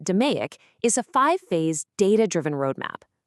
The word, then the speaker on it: DMAIC: DMAIC, you pronounce it "duh-may-ik", is a five-phase data-driven roadmap.